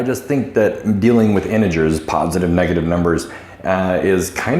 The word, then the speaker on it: integers: This is a nice soft G right here, integers, okay?